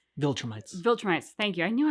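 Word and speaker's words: Viltrumites: Maybe he made a deal with the vitram vitrammites that like viltrrammites.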